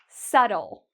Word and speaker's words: subtle: No, you don't need to worry about the B again because right after it is a T, so we can get rid of this. Subtle. Subtle.